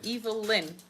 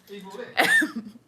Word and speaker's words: Evelyn: pronouncing Evelyn wrong. I'm pronouncing Evelyn. No, it's Evelyn. Evil Lynn. Evil Lynn.